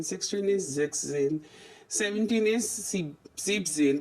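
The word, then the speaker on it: siebzehn: बस 17 का 7 में जब हमारा सी बन आया तो हमारा ई एन इसमें साइलेंट हो जाएगा, रिमूव कर देंगे और क्या हो जाएगा, सीप जेन पढ़ा जाएगा.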